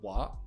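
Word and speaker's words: は: usually a subject particle you have the particle wa uh which is pronounced Han but why when it's a particle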